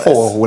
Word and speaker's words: He-Whore: There's only one way to pronounce it. You have to say it whore, like the meaning the woman. You have to say it like that.